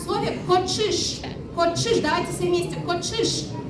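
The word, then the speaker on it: коӵыш: Ч с двумя точками произносится как ч. Да, как в слове кочиш.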